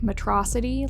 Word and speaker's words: Metro City: So, do you guys prefer to say it like Metrocity, like Megamind says? Or Metro City, like the rest of the city says?